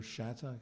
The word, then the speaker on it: Shattuck: You know, and that the week before, Roger Shattuck, am I pronouncing his name correctly? Shattuck, yeah. Shattuck had actually been written